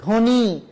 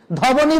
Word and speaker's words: ধ্বনি: ধয় বয় দন্ত নয়সী, ধ্বনি, ধবনি বলা যাবে না, ধ্বনি।